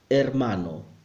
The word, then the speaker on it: hermano: it's good to remember the H Navy sounds so every time is you an age in Spanish don't pronounce it a total make any effort so affair affair hermano brother hijo son sound